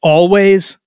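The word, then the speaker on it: Alvvays: primary uh singer-songwriter that group but anyway it's always but no W the W is actually two v's so it's it you would think it's all vase but it's actually I read a couple places actually pronounced always their album Blue rev number nine on my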